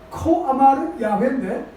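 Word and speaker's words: כֹּה אָמַר יְהוָה: 말은 뭐냐면 코아마르 야훼, 짧게 얘기하면 코아마르 야훼라고 얘기하는데 정확한 발음으로 얘기하면 코아마르 야훼인데 하나님의 영으로 충만해져서 하나님의 말씀을 1인칭 화법으로 얘기하는 상태를 코아마르 야훼라고 하는 거예요.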